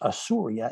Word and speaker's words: Assyria: which makes sense because our word assyria which the hebrews pronounced asurya as in asa uru